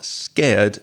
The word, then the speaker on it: scared: rose up also Lolly be careful of the pronunciation of scared s-c-a-r-e-d if you are scared then you are very frightened so scared is